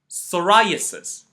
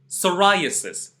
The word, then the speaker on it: psoriasis: then play the video I am going to pronounce them for you psychology pseudo P psoriasis once more psychology pseudo P psoriasis you can notice that in all these words